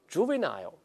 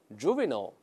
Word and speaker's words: juvenile: 我们大人再读一下 juvenile，但有的时候也会这么读 juvenile，有些美国人把这 i